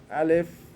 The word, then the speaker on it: Aleph: I live right an English word that sounds similar Aleph would be a sound like a airplane a how we say airplane LF is coming like that so if you remember airplane how to pronounce airplane alice is that way ok B is easy